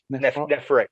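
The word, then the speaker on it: Nephrek: How do you pronounce that again? Is it Nephric? Nephric, yeah.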